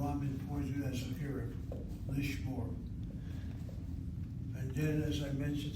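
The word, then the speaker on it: לשמור: Accent, less called for before, is always the last syllable of the word. Lishmor.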